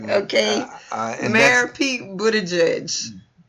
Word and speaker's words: Buttigieg: Now you know how we get on people for not pronouncing our names correctly. Please correct me. Okay, Mayor Pete Buttigieg. Buttigieg.